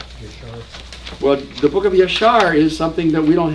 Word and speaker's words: Yashar: The book of Yashar, right. People in Minnesota call it the book of Yashur, you betcha.